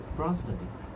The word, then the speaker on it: prosody: Our next part is एंड the last part is प्रोसोडी। Mind it's pronunciation, प्रोसोडी, PROSODY, प्रोसोडी।